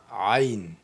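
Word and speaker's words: ع: OK, ça c'est ain ain ain ain c'est pas ain mais ain donc jusqu'à il y a d'autres qui vont placer apostrophe avant a pour dire que c'est a ok et non a ensuite même forme mais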